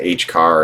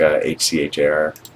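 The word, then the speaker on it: HCHAR: I heard people pronounce that. H car or H care. I like H C H A R.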